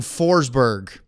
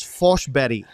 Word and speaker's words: Forsberg: and she said that the proper Swedish pronunciation is forbetty, which yeah, sounds nothing like Forsber.